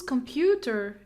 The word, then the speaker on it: computer: I hope so whose computer is this computer computer it's not because there's a schwa sound come pew Pew come pew Allah I